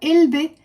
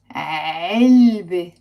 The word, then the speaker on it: علبة: It's not علبة, it's علبة. علبة. Okay, pronounce the عين. علبة. Box. Now, it has a silent T marbuta. So, it's the letter T, which we write and we don't pronounce.